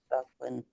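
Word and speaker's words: Böcklin: Boecklin. What? Yeah, Boecklin. Boecklin. Yeah. Yeah. Boecklin. Yeah, you would pronounce it correctly.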